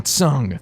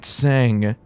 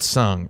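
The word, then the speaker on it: Tseng: it is so ugly okay listen she's gonna pronounce his name correctly listen listen she calls him tsung now as i pointed out uh in an earlier stream man man i pronounced his name sang in my final fantasy vii videos that i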